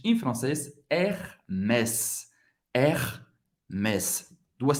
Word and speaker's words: Hermès: Hermès. Hermès em francês, Hermès. Hermès. Duas sílabas, Hermès. Ok? O S vai ser pronunciado no final da palavra. E tem o som do S mesmo.